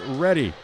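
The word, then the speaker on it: Redi: Tonight's match brought to you by Ready.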